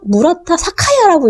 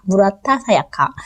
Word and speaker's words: 무라타 사야카: 자꾸 무라타 사카야라고 읽고 싶어요. 사카야가 훨씬 어감이 강해서 그러니까 사야카. 무라타 사야카.